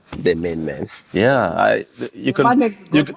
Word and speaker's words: Manne: Yeah, you man next to you can pronounce it the way you want it. The man, like Manne. like like the other guy.